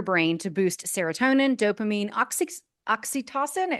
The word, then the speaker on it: oxytocin: Loretta is the author of Habits of a Happy Brain, a book about retraining your brain to boost serotonin, dopamine, oxytocin.